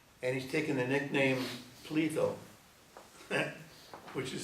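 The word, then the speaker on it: Pletho: So he gives it a little twist to express his modesty, even though it sounds like Plato when you pronounce it.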